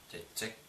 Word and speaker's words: чечек: Как будто бы здесь две буквы Ч. Чечек, чечек.